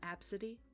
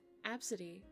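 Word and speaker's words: Abcde: did you know that there's a name called absidy AB City absidy is spelled a b c d e absolutely gotta be kidding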